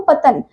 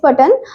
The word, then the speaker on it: Patan: गुजरात में आपको पतन यहाँ पर जो दे रखा है आपको वो गलत स्पेलिंग दे रखी है, दैट इज PATAN, ओके, पतन, इट इज पटन।